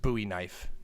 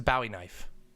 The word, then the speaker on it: Bowie knife: we know it is not it is not pronounced buoy knife it's a bowie knife bowie what